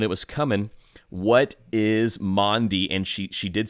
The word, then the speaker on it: Maundy: What is Maundy? And she did spell it right, because it's typically pronounced wrong. A lot of people want to call it Monday. It is not Monday.